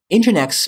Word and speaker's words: NGINX: servers in the market so let's get started engine X pronounced as engine X of course if you're reading